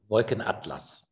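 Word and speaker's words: Wolkenatlas: Can you correct me how to pronounce this work? Wolken Atlas.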